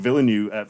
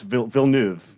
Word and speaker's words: Villeneuve: weirdly enough i think villanu i always pronounce his name wrong it's villeneuve villeneuve the guy who made